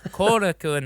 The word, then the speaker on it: Korakuen: My favorite place in the world, there's a venue called Korakuen Hall, but I always say Karakin Hall just because like I don't know, hey, I'm going down to Karakin Hall, but it's Korakuen Hall.